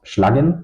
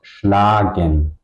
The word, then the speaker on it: schlagen: If it's at the end, it's pronounced large. Okay, so it's not pronounced schlugen, it's pronounced schlagen. Okay, the a is long because it's at the end of the syllable.